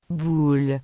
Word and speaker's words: boule: Las letras O, U se pronuncian como un U español. Por ejemplo, boule, que significa bola.